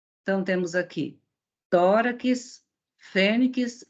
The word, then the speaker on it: fênix: Então, temos aqui tórax, fênix e ônix. Primeiro, analisando a posição da sílaba tônica. Quando pronunciamos tórax, onde está a sílaba tônica? No tó. Fênix, no fê.